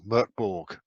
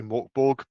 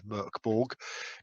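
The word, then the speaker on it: Mörk Borg: mechanics of this thing murkborg i know a lot of people say morkborg but the pronunciation god apparently says it's murkborg dark castle this is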